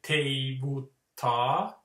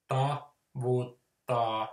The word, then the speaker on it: tavutta: in a symphony orchestra, so that you wouldn't say tevutta, because that's wrong. You know, you like those kind of open-ended rhythmic units. Tavutta, not tevutta.